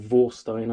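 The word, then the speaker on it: Warsteiner: here which is a war steiner or vorstein i think they pronounce it with a v uh family tradition since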